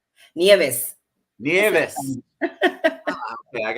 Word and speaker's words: Nieves: Nieves.